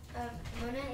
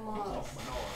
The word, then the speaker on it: Manoah: Mona is his dad. How do you say that? Manoah.